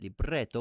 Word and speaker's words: libretto: So that would mean that libretto would be pronounced with a trill, for sure.